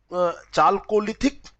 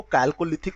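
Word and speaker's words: chalcolithic: कभी कैल्कोलिथिक भी इसको पढ़ा जाता है। इसका जो उच्चारण है वो कैल्कोलिथिक होता है। तो दोनों रूपों में आपको ये मिल सकता है।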